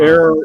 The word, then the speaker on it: heure: Air is the French for hour, and it's spelled Heure.